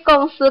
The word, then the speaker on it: 公司: Gongsi bacanya K-O-U-N-G, N-G. Gong gitu. Jangan bacanya O-U-nya barengan. Gongsi.